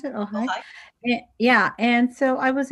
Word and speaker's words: Ojai: Is that how you pronounce it? Ojai?